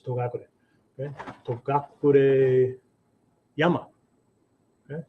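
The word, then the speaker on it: Togakushi: So it says Togakure. Okay. Togakure Yama. Okay. Actually, this is pronounced Shi. Right. So Togakshi Yama.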